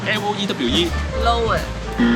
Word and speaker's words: Loewe: Come on, back to school… I have told you the pronunciation of this brand is not what you expected. How do you pronounce... L O E W E?